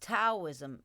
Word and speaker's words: Daoism: the profound teachings of Daoism, pronounced Taoism in the West.